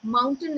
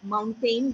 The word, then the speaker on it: mountain: I think mountain is a better pronunciation than mountain, where AIN was given more stress on.